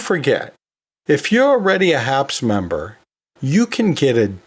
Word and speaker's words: HAPS: anatomy and physiology society h-a-p-s that's pronounced as a word it's pronounced haps so that fits this